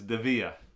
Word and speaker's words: Dievier: DEA boots and he was wondering how to pronounce it too uh Mr Rose Anville it is DEA and thank you for the love I enjoy